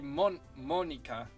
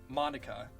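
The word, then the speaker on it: Monika: Technically, okay, if we were to go off of their Japanese pronunciations, it'd be Sayori, Natsuki, Yuri, and Monica. It'd be Monica, not Monica, like from Friends.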